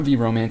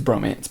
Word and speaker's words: VROMANCE: the romanization is and it's not V romance it's Bromance basically I've learned my